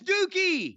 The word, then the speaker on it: Douki: D-O-U, that's Dookie.